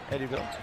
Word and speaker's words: Eddyville: But I had mispronounced his hometown the other night. Eddyville, Kentucky there. Eddyville.